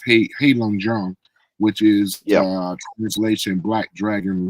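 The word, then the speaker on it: Heilongjiang: he's from Harbin or they pronounce it as hey Jang which is translation black dragon river which is close to Russia north of Beijing for people that may not know.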